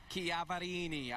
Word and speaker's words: Chiaverini: told me today, guys, we have to pronounce my last name correctly. Chiaverini. I must get a letter at least once a month from a fellow Italian that tells me stop Americanizing it.